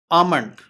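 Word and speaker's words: almond: बादाम को इंग्लिश में हम कहेंगे आमंड। इसे आमंड भी बोला जाता है, आलमंड भी बोला जाता है।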